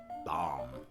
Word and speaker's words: Baum: is a funny name bomb bomb is is how you really pronounce it but most people pronounce it and uh this